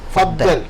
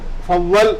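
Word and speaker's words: فضل: അർത്ഥതലങ്ങൾ ഉള്ള ഒരു പദമാണ് പിന്നെ ഫദൽ എന്നത് ഫളൽ എന്നാണ് അറബി ഉച്ചരിക്കുക അത് സാധാരണ നമ്മൾ മലയാളത്തിൽ ഇല്ലാത്ത വാക്ക് ആയതുകൊണ്ട് ഫദൽ എന്ന് എഴുതിയെന്നുള്ളൂ ഫളൽ എന്നാണ് അതിൻറെ ശരിയായ ഉച്ചാരണം അതിന്റെ അർത്ഥം പ്ലീസ് കം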